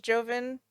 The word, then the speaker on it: Jovin: king oh uh King yovin yovin well it's spelled Jovin I think it's yoven yeah the audiobook narrator says it is Jovin oh I like yoven